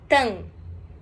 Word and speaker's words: temps: Esse temps se fala tan. Tan. Igual Latam, o avião.